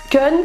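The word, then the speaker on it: Keune: Kun, ça s'écrit K-E-U-N-E.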